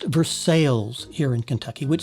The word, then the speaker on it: Versailles: And Versailles is pronounced Versailles here in Kentucky, which sounds funny to outsiders, but that's the way we talk here.